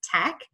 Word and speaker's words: TEC: All right, so we are the Energy Coalition, and you can say it TEC, pronounced tech.